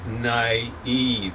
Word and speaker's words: naive: is a little bit naive and that's two strong syllables on that that's called a spawn d n i e not ordinarily the way you say it but you already said